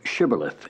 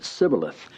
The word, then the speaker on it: shibboleth: said now unto him say now shibboleth and he said sibilith for he could not frame to pronounce it right he was a password